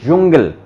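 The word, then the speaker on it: Dschungel: और एक कॉम्बिनेशन देखा, डे एस से हा, डे एस से हा, इसको बोलेंगे जय, जय प्रॉपर नहीं, जय, तो इसको बोलेंगे जुंगल, जुंगल। और गे का जी का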